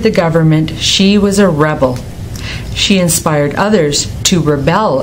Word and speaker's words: rebel: for a spa treatment did you notice that when the homograph is a noun the stress is on the first syllable record Rebel present when it's a verb the stress goes on the second syllable record Rebel present can